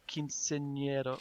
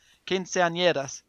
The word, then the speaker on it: quinceañera: I think it's called the quinceañero. I've forgotten how to say it now. Quinceañeras.